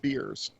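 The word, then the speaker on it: biers: across the floor hmm they're pronounced beers years yeah mmm it's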